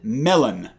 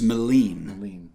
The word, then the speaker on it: Melin: His name is Melin. Melin. It's Swedish, so. And pronounce it right, because he gets angry about the melon thing.